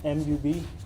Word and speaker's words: Mubashir: M-U-B-A-S-H-I-R. It's pronounced Mubashir.